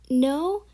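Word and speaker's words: know: okay so the first the fourth word we have is no and no oh you pronounce it as n-o-w but you don't pronounce it as now you pronounce it as no because yeah and the k is silent um the fifth word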